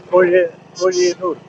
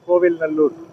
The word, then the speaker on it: Kovil Nallur: And this is Koyenur, or Koyenallur, Kolyenur. Actually, the pronunciation is Kovil Nallur.